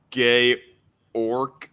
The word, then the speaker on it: Georg: Pronounced gay orc.